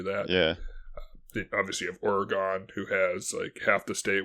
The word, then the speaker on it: Oregon: I called it Oregon. That's the proper way to pronounce it, but I think nobody does it, so you sound like a lunatic when you do.